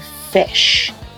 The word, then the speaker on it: Phish: And he said, it's a band named Fish, but it's spelled Phish.